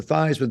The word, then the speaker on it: Theismann: We think just simply by changing the pronunciation of your last name from Theismann to Theismann to rhyme with Heisman, we can get you that trophy.